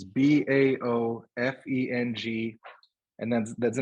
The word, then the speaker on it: Baofeng: The ones we bought are called, I don't know how it's pronounced. It's BAOFENG.